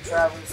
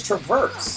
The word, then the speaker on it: Traverse: it's like he's in Travis to pie of underwater land why does everybody mispronounce that word it's yeah it's Traverse I don't [ __